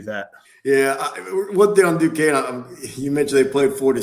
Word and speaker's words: Duquesne: they were calling it like Ducanese. They didn't know how to pronounce it. So you're right. Now I had to correct them because I went to school by Duquesne. I said it's Duquesne. So now they got their